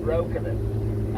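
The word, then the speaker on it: Breukelen: Properly, by the way, it should be pronounced Brokenen, as in Dutch for broken land.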